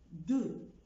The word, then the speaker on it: de: و اكزامبل دو، دو ما قلتش ز او دي.